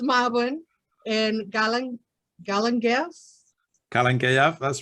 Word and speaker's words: Mabon: the pronunciation right yes so so marvin no maven it is marvin and galen galen that's